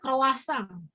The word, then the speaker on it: croissant: makan rotinya dulu ya ini tulisannya croissant tapi kalau orang Perancis bacanya bukan gitu ya bacanya Kroasia Kroasia ya jadi beda kalau